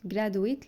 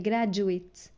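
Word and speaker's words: graduate: او التخرج من الجامعه في ناس بتنطقها غلط جراويت لا هي جراجويت انديفيجوال انديفيجوال الدي بعد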